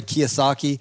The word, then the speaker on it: Kiyosaki: Even your boy Kiyosaki.